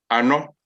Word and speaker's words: Ano: You say it as you see it.